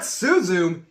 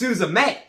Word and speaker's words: Suzume: It's not Suzume, it's Suzume. Whoops.